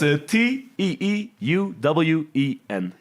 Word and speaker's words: Teeuwen: I'll let Rik do it because I wasn't doing a good job pronouncing it. It's Teeuwen.